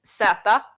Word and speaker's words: zäta: Also, the Swedish pronunciation of the word Z is Zäta.